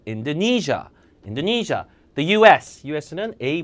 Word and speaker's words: Indonesia: 네이시아가 아니라 인도네시아 아예 못 알아들어요. Indonesia, Indonesia.